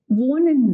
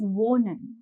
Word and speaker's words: wohnen: the pronunciation of it, this ha is pronounced very subtly. So whenever you have the sound of ha in Deutsch, the pronunciation is very subtler. We do not stress on that ha a whole lot. So it shouldn't sound like wohnen. It sounds like wohnen. It's subtle, it's smooth.